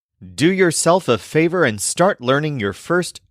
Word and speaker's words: favor: word favore which is spelled exactly like the English word favor but it's pronounced with the stress on the second syllable favor this is a